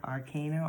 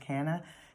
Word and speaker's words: arcana: going through still the major arcana or canna depending on how you want to pronounce pronounce it i left off